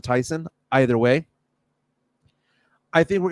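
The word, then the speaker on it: Thiessen: Tiffany Amber theas again everyone pronounces it Theos but I believe she pronounces it Tyson either way I think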